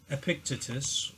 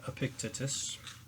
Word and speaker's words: Epictetus: stoic life written by uh epictetus or i believe that's how you pronounce his name epictetus epictetus i don't know anyway now uh this